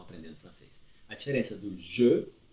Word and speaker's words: je: Você pronuncia je. Je. Je. Não é Jo de Jô Soares, 11h30, não é nada disso. Nem Gé aberto. Entre o aberto e o fechado.